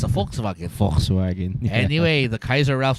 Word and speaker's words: Volkswagen: And because Germans pronounce their W's as V's. That's why it's a Volkswagen. Yeah, it's a Volkswagen.